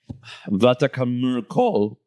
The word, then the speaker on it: Vatnajökull: Okay, so the first one really is good some Icelandic pronunciation. Jökulsárlón. So Jökulsárlón, Glacier Lagoon, it's icebergs. They drift into the Atlantic from Vatnajökull Glacier.